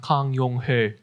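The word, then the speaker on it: 강용흘: In Korean, his name would be pronounced Kang Yong-ho.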